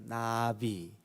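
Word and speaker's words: נביא: 히브리 말로 이 선견자, 선지자, 이걸 뭐라 그러냐면 나부라고 그래요. 나부. 우리 한국말 발음으로 이렇게 날아다니는 나비 있죠. 발음이 똑같아요. 나비 혹은 나부.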